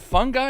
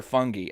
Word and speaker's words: fungi: Is it fungi or fungi? I've heard it pronounced both ways.